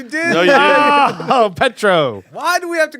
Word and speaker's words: Petrou: Damn, I thought You're emphasizing the true. Yeah, he's putting the accent on the wrong syllable.